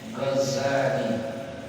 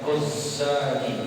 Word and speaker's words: Ghazali: Yakni Abi Hamid Muhammad bin Muhammad bin Muhammad bin Ahmad Al-Ghazali, ya, bitakhfifiz zai, yakni dibacanya dengan zai yang takhfif, yang tipis, ya, Ghazali, bukan Ghazali, tidak ditasdidkan, ya, tapi ini ada tasdidnya kan?